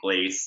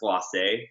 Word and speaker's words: glacé: I think we were saying glace many times. And a French person actually told us, you know, that's glacé. There's an accent.